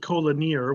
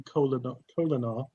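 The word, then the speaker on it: Kolinahr: It didn't to McCoy because he called it Colonier when it's supposed to be Colonar. That's what I was going to say, Colonar.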